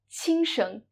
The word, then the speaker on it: 轻声: We call this kind of syllable the neutral tone or the light tone. 轻声.